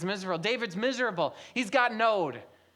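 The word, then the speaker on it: נֹד: The Hebrew word for wanderings is node. N O D rhymes with toad. Okay, so say that with me. Node.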